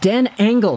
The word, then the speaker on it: Dan Engel: this D A or how is that username pronounced Dan angle that's what it is please add some capitals